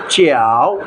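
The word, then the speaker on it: 饺: Chinese ভাষায় কিন্তু ইংরেজিতে যে, এটার উচ্চারণ কিন্তু যে না, এটা জিয়াও বলবে না কেউ। এটা জে এর উচ্চারণ হচ্ছে চ দিয়ে, চিয়াও থার্ড টোন।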